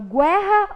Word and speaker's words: guerra: Eu falo guerra ou guerra? Guerra. O U não foi pronunciado agora.